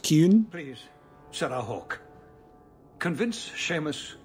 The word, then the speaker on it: Qun: for the qunari compound it's pronounced kyun please Sarah Hawk convince